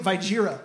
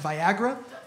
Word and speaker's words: Viagra: I was like, hey, just so you know, that's actually pronounced Viagra.